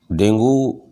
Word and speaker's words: Dengue: मैं आज आपसे आजकल डेंगू फीवर के जो फैला हुआ है इसके बारे में चर्चा करना चाहूँगा। ये डेंगू फीवर, जिसका सही उच्चारण डेंगी फीवर है, डेंगू वायरस से संक्रमित